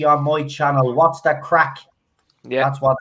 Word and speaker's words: craic: The stream is probably not monetized because its title is "What's the Crack." But there you go. Make sure you spell it.